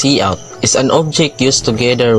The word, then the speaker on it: cout: It is pronounced as cout.